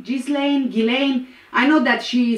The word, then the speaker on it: Ghislaine: my best and also also gillane maxwell it just doesn't make sense to me gillane why is he not he's jizz lane jizz lane gillane i know that